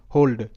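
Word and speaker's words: hold: এখানে ও হিসেবে উচ্চারিত এইচ ও এল ডি হোল্ড হোল্ড এস ও এল ডি সোল্ড সোল্ড তো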